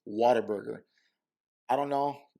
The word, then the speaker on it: Whataburger: want to fit in the way san antonio's pronounced whataburger is whataburger i don't know how